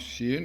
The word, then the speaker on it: Shin: So in the softer pronunciation is pronounced Shin, and its strengthened pronunciation is pronounced Sin.